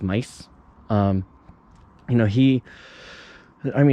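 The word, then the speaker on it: Maes: brand new bike, Martin Mays. Well, I think it's Mice in Belgium. His last name is actually pronounced Mice.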